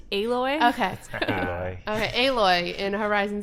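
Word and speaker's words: Aloy: she's uh what's her name alloy alloy is pronounced alloy okay okay Lloyd in horizon zero Dom so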